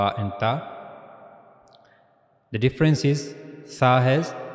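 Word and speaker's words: ت: In ta, we were putting the tip of the tongue at the gums of the upper teeth.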